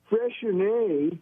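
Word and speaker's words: Freixenet: I'll give it to you now because um fresher which is a Cava from um Spain of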